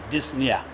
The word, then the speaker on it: dyspnea: The P is silent. Dyspnea. You call it dyspnea, not dyspnea.